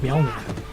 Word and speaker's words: Mjolnir: Yeah, it's pronounced Mjolnir.